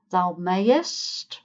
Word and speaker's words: mayest: "May": "Thou mayest" or "Thou mayst" if you want just one syllable instead of two.